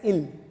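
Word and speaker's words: ils: We pronounce it as ill.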